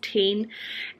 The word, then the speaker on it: TIJN: chain eyewear or tijn i'm pretty sure it's pronounced 10 um doing the rhymes